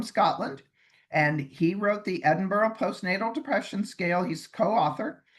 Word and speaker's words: Edinburgh: Yeah, here in the US we say Edinburg. I know. But, you know, if you know John Cox or you're from Europe, you say Edinburgh cuz you know that's how it's pronounced and this is where